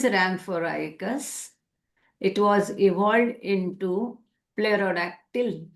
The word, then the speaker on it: pterodactyl: It was evolved into Pterodactyl. Pterodactyl, they say pterodactyl. I think they don't say the P. Right, pterodactyl. P is silent.